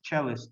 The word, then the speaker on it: cellist: competition to win and the pronunciation is cellist okay because the instrument is called cello violent in english in russian is in english is cello and the musician is cellist so he beat